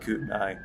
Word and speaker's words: Kootenai: Kootenai. There's some talk about there's some talk about Kootenai National Forest.